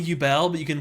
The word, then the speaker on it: Yubel: Yubel, like bubble? Yubel? Is definitely Yubel, but you can pronounce it however you want.